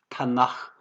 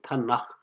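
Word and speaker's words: תנ״ך: 특별히 시편으로 대표가 되는 그러한 책들인데 이 세 글자 토라의 T, 네빔의 N, 케투빔의 K를 합해가지고 이것은 이제 뒤에 가면 히브리에서 흐 발음이 나오거든요. 그래서 타나흐 그 모음 R을 더해가지고 타나흐 이렇게 얘기를 합니다.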